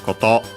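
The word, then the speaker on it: こと: Accent on the last mora, so yeah, koto.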